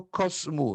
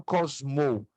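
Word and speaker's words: κόσμου: Tou, cosmu, não cosmou. Ainda que na pronúncia figurada ou na transliteração, eu coloco cosmou, mas a pronúncia é cosmu.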